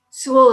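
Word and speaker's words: Soule: Sewell is spelled S-O-U-L-E.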